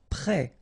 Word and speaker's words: prêt: Prêt. Final T not pronounced. Accent circonflexe like that phonetically gives you the E sound. Prêt.